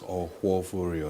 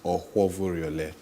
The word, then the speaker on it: Ohoviore: Okay, so it's pronounced Ohoviore. Okay. So you have to take it slowly. And you know Nigerians can be impatient. We have to be slow. Ohoviore.